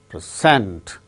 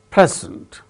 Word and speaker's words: present: Present, the chief guest presented a present. So, when it is used as noun, it is present. When it is used as verb, present, second syllable gains stress.